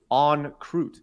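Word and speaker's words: en croûte: Salmon is salmon on wrapped in puff pastry. Okay, pronounced on croûte.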